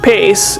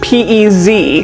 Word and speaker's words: Pez: So even though Pace is pronounced Pace, it is spelled P-E-Z, like the candy, because it is a Spanish name that means fish.